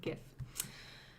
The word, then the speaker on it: GIF: I prefer the hard G GIF.